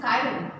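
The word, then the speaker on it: chiral: Word use हुआ है, चिरार carbon. Actual pronunciation, correct pronunciation is कायरल, कायरलिटी, ठीक है।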